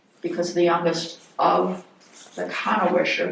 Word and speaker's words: Kannewischer: the youngest of the kanwisher that's how it's pronounced I was I was saying Cano Wisher but it's the German kanwisher the youngest daughter would